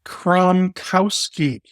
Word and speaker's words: Kromkowski: I'm joined by Crum Kowski you got it all right too good I know it's a long polish one but you know it it does sound just like it's spelled it's just a long